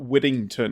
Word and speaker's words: Whittington: and he has he the way he Now spells my name is w-h-i capital t t i n g capital t o n so that he knows where to put the pronunciation on my neck that's funny thank you quittington not Whittington there's no D's in my name yes please say my